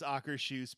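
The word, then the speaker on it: Akershus: The only time I ever ate, and it's actually pronounced Ackershoes, but that's fine.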